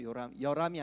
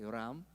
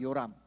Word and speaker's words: 요람: 여람이 아니라 요람입니다. 요람.